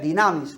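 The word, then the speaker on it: δύναμις: La segunda palabra que viene ahí es poder, dinamis, una palabra en griego que se pronuncia dinamis.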